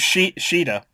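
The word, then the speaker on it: Caeda: Yeah, it's spelled C A E D A, but it's said S H I I D A.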